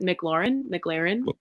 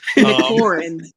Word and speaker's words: McLaurin: say it in a way that I don't pronounce it. McLaurin. Okay. You got it. Yeah. So how do you say it? Can you not read? McLaurin.